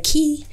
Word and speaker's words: cay: pronounce c a y some people say key even MC says key I like K and I think that it's more exotic to say K and so that's at